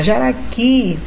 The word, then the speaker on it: Jaraqui: Jaraqui, a sílaba tônica está lá na última. Então, é uma oxítona.